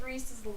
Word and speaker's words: Rhys: I think it's pronounced Rhys. It's R-H-Y-S.